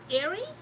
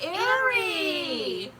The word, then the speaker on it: Airy: We've been calling her Array. She said it's pronounced Airy. People mispronounce it all the time. Oh, it's Airy.